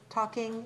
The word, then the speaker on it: talking: talking and taking so talking and taking how is the spelling different in taking how do we spell it t-a-k-i-n-g and talking is t-a-l-k-i-n-g and the l is silent it's we don't speak it we have to write